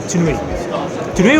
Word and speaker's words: Tune: Tunei or tune? Yeah. Which is the right pronunciation? Tune? Tune. Tune, right, in English way.